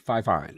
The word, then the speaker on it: Fifine: How do you pronounce that name? Fifine? Is that Fifine? Fifine, yeah.